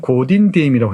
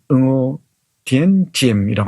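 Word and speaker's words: Ngô Đình Diệm: 옛날에는 고딘디엠이라고 했는데 요즘 발음으로는 응오디엔지엠이라고 합니다.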